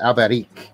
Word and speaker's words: Alberich: But yeah, there's actually a lot of Albrechts in Spain, except they say it fancy. They pronounce it Alberich.